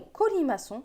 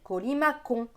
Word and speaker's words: colimaçon: C'est pareil, si on n'avait pas mis la cédille en dessous, le mot colimaçon se prononcerait colimacon. Et ça, on ne veut pas, on veut colimaçon.